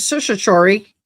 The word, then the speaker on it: certiorari: we get into it, is a writ of certiorari. I can't say this. Certiorari. So certiorari, it's spelt kind of interesting.